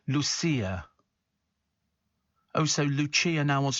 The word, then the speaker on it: Lucia: Lucia wants to say her name is pronounced Lucia.